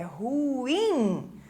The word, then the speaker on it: ruim: tonicidade no ru e a sílaba então tônica mais forte é o in né É ruim certo então aqui são